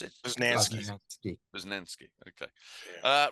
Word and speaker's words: Posnanski: Is that how you pronounce it? Posnanski.